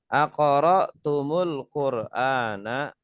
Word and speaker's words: Aqara'tumul Qur'ana: Nah, ini kalau ada tum ketemu dengan al ini kan hamzahnya sukun ya. Maka di tumnya mimnya itu didomahkan. Aqara'tumul Qur'ana. Ini cara bacanya.